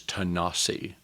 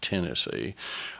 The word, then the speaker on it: Tanasi: But when Scottish traders made their way into a place that Cherokees pronounce as Tanasi, not Tennessee, uh they discovered that